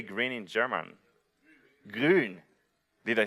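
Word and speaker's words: grün: Grun.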